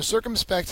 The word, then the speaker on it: circumspect: know offending anybody so circumspect has the first syllable accented it's an adjective it